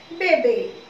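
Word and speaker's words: bevy: क्या प्रोनाउंस करोगे, बेबे।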